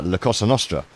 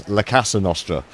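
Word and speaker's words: La Cosa Nostra: Um Caspel a few weeks ago announced that the FBI had busted the families uh Lacosa Nostra which he kept mispronouncing as Lacassan Nostra and he got me the house.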